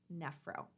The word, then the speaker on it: nephro: for the kidneys is nephro NE p h o pronounced nephro again remember that that pH letter inside of medical terminology was pronounced like the F sound we're taking a look